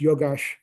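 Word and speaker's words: yogaś: And so it's actually pronounced yogash, but I won't go into all the details of grammar there.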